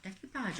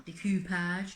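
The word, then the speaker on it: découpage: It is a form of decoupage, I think, or decoupage, depends how you want to pronounce it.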